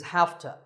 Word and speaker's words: hafta: Number three is hafta. This is a reduction of have to. We say hafta because it's easier to say that way.